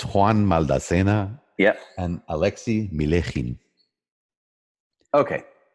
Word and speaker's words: Maldacena: You have to say it like this. Maldacena.